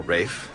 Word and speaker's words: Ralph: Known as Ralph, pronounced Ralph or Rafe, whichever you prefer.